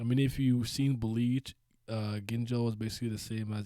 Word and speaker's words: Ginjo: Is that how it's spelled? Yeah. Like Gingo? I swear I spelled. Oh, it's Ginjo.